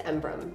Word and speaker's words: Embrun: It's Embrum. A lot of people pronounce it that way.